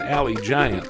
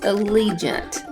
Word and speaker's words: Allegiant: we fly on that alley giant plane it's pronounced Allegiant potato potato actually where